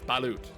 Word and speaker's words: balut: or something like that I know of balot balut balot that's what it is balot yeah like I mean